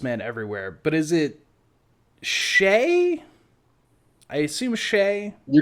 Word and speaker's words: Shea: But is it Shay? I assume Sheay. You're gonna make me look it up now, aren't you? Hang on. S H E A Wingum. Yeah, it's Shay. It's pronounced Shay.